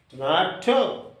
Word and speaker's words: tomato: And where shall we give the stress or accent? On the middle syllable, that is ma, tomato.